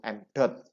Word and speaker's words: m dot: Jadi m ada titik di atas, itu m dot bacanya, m dot, ya.